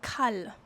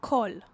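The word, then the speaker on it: כל: And in Hebrew there's the word all like kal. Sorry, kol. Kol with a kuf with a kaf. Always get those two mixed up. With a kaf is kol. Have everything. I am everything. Okay, and it's phonetically connected to kol the voice. The voice which has got a kuf.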